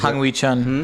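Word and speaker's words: Hwang Hee-chan: Traore, Lamina, João Gomes, Nunez, I can never pronounce his name. What is Hang Wee Chan.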